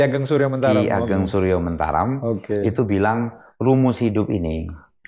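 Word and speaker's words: Suryomentaram: Ageng suryentaram Oke ini Ini lucu nih ah orang orang Padang bacanya Ki Ageng suryomantaram iya i Ki Ageng suryomantaram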